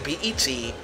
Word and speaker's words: PET: Hikari's research was the PET (PErsonal Terminal, pronounced P-E-T rather than the word "pet"), a small computer which is